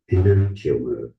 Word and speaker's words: enantiomer: Enantiomer. Enantiomer. Stress on that second.